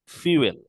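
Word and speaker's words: fuel: এই শব্দটার উচ্চারণ কি ফিউল রাইট এটা কিন্তু ফিউল এটা ফুয়েল না ফিউল আমাদের বলতে হবে আচ্ছা তাহলে ইনক্লুড ইন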